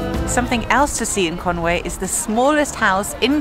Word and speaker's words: Conwy: our first destination so our first stop today is Conway and not Kon we like I thought learning the first things about how to pronounce Welch places properly this is conway castle